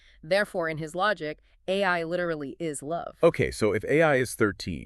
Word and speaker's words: 愛: If you look at it through the Japanese linguistic court, and remember, he cross-references multiple languages, the kanji symbol for love is pronounced AI.